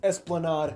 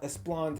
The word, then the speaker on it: esplanade: mistakes first of all mispronunciation it's esplanade not espland my mistake second of